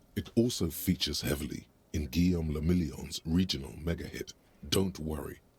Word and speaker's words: Guillaume le Million: If it doesn't rhyme, you're not pronouncing it right. Guillaume le Million.